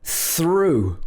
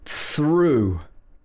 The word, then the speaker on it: through: the th it becomes through with the ooh at the end through okay if we add